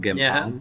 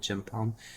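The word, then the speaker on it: Gempalm: say it right because it's just one gem pal not g pal but gem Palm uh one gem palm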